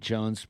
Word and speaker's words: Joens: In a parallel universe, there was a guy named, Nate Jones, which you spell your name super, unique. It's J I O spell it E N I spell it S. right. I like to say I spell it the right way.